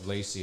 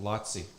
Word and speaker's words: Laci: correct my pronunciation of lacie it's actually pronounced lotsy way to go frick